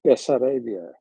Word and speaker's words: Bessarabia: who then named it bessarabia have I got that pronoun right that pronunciation right b b that's that's the Southeastern part yeah that's right so the majority of